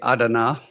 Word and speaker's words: Adana: Right out the back door of Incirlik was Adana, just down the road. Or should I say Adana?